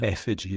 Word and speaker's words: Effiji: Effiji is how you pronounce it.